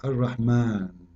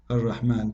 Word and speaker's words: Ar-Rahman: So if we say Ar-Rahman in the Quran, it's coming the alif very short, but you hear me pronouncing the alif. Ar-Rahman. Ar-Rahman. This is not a fatha only, it is a letter.